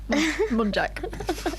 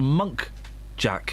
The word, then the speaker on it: muntjac: they said about a muntjac. Her name was Jacqueline, I forgot to say. Oh, what? Muntjac. I only found out recently it's a muntjac. Yes. I thought it was a monk jack.